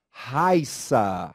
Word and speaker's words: Raissa: Por que será que a palavra de cima não possui acento pronúncia é diferente e a palavra abaixo possui o acento agudo e também né Tem uma pronúncia diferente da de cima é Raíssa e o outro é Raissa vamos a diferença Olha